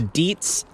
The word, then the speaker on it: Dietz: I think it's usually like red colored, and it's a Dietz Little Giant. I think that's how you pronounce that.